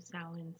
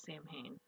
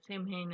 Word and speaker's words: Samhain: might be asking yourself who the heck is sam hayne don't worry it's a running joke in the pigging community hi i'm molina co-owner